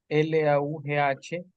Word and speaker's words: laugh: Siempre ese verbo L-A-U-G-H. Laugh. Solo la A se pronuncia y todo lo demás es como una F literal.